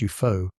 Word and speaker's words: UFO: UFO (pronounced Yoo foe) for short.